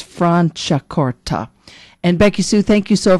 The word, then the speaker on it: Franciacorta: And I didn't study Italian growing up, so I kind of learn as I go with interviews that it's not pronounced Franciacorta, it's Franciacorta.